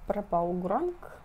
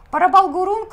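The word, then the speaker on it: Prabal Gurung: Ну и следующее платье от этого же дизайнера Прабал Гуранг. Боже, надеюсь, мы правильно произносим. Парабал Гурунг, ну, в общем, Парабал Гурунг.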